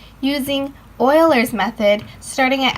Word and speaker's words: Euler's: to your answer now a first common mistake for this question is pronouncing it Euler's method instead of Euler's method never do that again now that we got